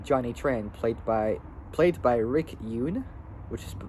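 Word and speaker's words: Yune: Tran, played by Rick Yoon, which is his last name is spelled Y-U-N-E. It's like saying June, but taking out the J and putting the Y into it, so it's spelled Y-U-N-E in Racehorse 2001.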